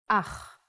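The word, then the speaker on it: אח: Ach. The pronunciation is important. Try to pronounce it more glottally from your throat.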